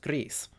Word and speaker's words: Gris: spanish which means that the name of the game should be pronounced greece my apologies for them